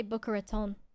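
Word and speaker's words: Boca Raton: As a native Floridaian, how do you pronounce Booker Raton like that? I say Booker Raton, but also I talk weird in comparison to other people.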